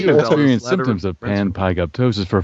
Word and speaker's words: panpygoptosis: Okay, so I thought it was PIG, but it's PYG. Okay. Panpygoptosis.